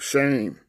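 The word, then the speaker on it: shem: In the Old Testament, it's S-H-E-M. And they pronounce that shame.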